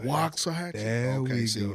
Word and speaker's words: Waxahachie: Okay, first we're gonna have to get, the A is silent, so it ain't wax, it's Waxahachie. Waxahachie.